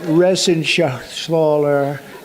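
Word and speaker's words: Reschenthaler: Ren Shaler you know that Ren Sher he uh that's actually the way you pronounce it you know nobody else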